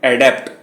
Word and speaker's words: adept: दूसरा इसका उच्चारण है एडेप्ट और स्पेलिंग है ADEPT।